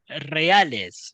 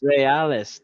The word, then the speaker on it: Reales: Did I is that pronounced? Is that No, it's correct? not. It wasn't RSL. It's Los Caballeros Reales. Reales.